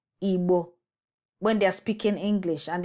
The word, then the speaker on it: Igbo: So the actual pronunciation and the tone is Igbo, Igbo, lo, lo, and not Igbo.